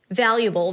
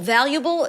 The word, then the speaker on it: valuable: Valuable. Valuable is a thing of great worth. Let's talk about the pronunciation.